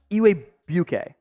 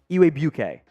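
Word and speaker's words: Igwebuike: a tricky name uh I believe it's pronounced eway UK there there's a w and a g uh mixed in there I'm pretty sure it's Godwin eway bouquet Falcons fans correct me if I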